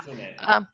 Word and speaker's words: Kitsune: Kitsune. Kasune. He pronounces it better than I do.